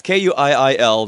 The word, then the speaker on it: Kuiil: He plays the Ugnaught character I want to pronounce his name Kuiil. That's how I'd say it. Yeah, it's Kuiil.